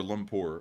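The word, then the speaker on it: Kuala Lumpur: let's go look at koal lumur uh or Lumpur which I believe is how this is pronounced and let's take a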